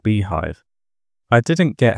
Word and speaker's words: bhyve: For virtualisation, FreeBSD has a built-in type 2 hypervisor called bhyve (pronounced "beehive").